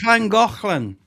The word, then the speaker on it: Llangollen: And Oh, that's Llangollen. Yeah, you got like you're clearing your throat. They do that a lot yeah, in Welsh.